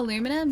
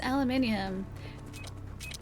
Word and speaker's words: aluminium: The Australian pronunciation is aluminium. And it makes sense because that's the way that it is written.